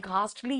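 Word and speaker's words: ghastly: तो घोस्ट से हमें घास्टली याद रहेगा हम ऐसे देखो बेटा इसको एच साइलेंट है ये बोलते हैं घास्टली लेकिन हम ऐसे घोस्ट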